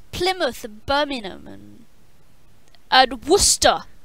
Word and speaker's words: Plymouth: but you guys mispronounce plymouth of Berman omen I'd Worcester like it's not pronounced believer it is pronounced Plymouth how else do people